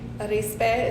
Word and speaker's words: Arispe: last name urispi arispe is how it's pronounced i always say rice crispy and people remember it that way my city i currently